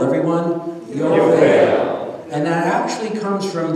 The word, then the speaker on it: Yovel: Now, the word Jubilee in Hebrew is pronounced Yovel. Yovel, everyone? Yovel.